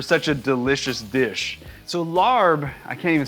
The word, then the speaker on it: larb: I got to be honest, you know, I don't love the name larb. In Thai, this would be pronounced lop. And you know, it's got a kind of a pizzazz when you say lop, but you know, the